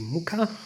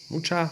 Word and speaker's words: Mucha: me and it's the Muka mucha I like to pronounce it much but I think it's muka tarot and this deck I